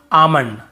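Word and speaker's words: almond: बोल देते हैं बहुत काल्म बालम पाल्म नहीं होगा काम बाम पाम और आमंड ऐसे आलमंड आलमंड नहीं पढ़ेंगे ठीक है आमंड व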